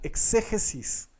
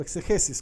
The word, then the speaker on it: exégesis: Hay personas que le tienen alergia a la palabra exégesis o exegesis, cualquiera de las dos opciones está bien pronunciado.